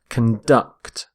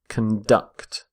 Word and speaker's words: conduct: are conducting electricity so note the stress of on the verb as well conduct conduct stress on the second syllable we say conduct when we're using the noun the word conduct is all about behavior as in a code of conduct or criminal conduct but when we use the verb which is what i'm going to look at here stress the second syllable conduct so water conducts heat